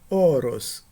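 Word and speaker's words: ὄρος: Primeira, horos. Segunda, oros. Na primeira palavra, a primeira vogal ela é aspirada horos. No na segunda palavra, a primeira vogal não é aspirada, a aspiração no primeiro caso e a ausência de aspiração no segundo caso distinguem significados.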